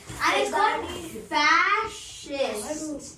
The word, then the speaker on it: fascist: Capitalist fascist. guy. Fashes. That's how it's pronounced.